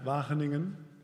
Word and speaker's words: Wageningen: thanks for the introduction nice try wageningen but I know the hard G that we are you know pronouncing and you guys cannot do that service it must be